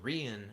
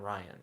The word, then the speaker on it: Rian: Godzilla says the name is pronounced Rian, not Ryan.